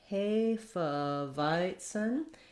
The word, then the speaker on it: Hefeweizen: for you for hiton you might want to practice one Sil but at a time hiten you're going to have some secondary stress there on the V syllable so then you can